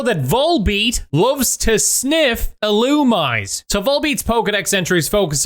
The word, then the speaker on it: Illumise: in with a rag you've rubbed on an illumise so I have to issue an apology last episode I kept saying illumise instead of How It's actually pronounced illumise Pokemon fact number 314.